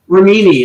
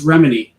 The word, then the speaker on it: Remini: He keeps saying Leah Remini, and I'm like, it's Remini. It's Remini, not Remini.